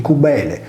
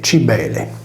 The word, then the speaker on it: Cibele: Cosa ha a che fare l'abitazione agropastorale, detta in sardo suguile, cubile, cuvile o covile, con la divinità di Cubele, pronunciata erroneamente Cibele?